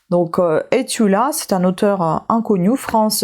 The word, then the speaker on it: Estula: Par exemple, là vous avez le nom qui s'écrit Estula et en bas c'est marqué prononcer et sans faire entendre les s. Donc etula, c'est un auteur inconnu.